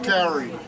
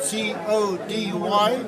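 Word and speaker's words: kauri: Cody trees have been mispronounced, everyone. Cowrie. The proper way to pronounce Cody trees is to take a person's name, spelled C-O-D-Y, and say it fast.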